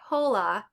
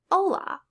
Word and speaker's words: hola: H is always silent. You're never going to pronounce it, so don't say hola. You're going to say hola.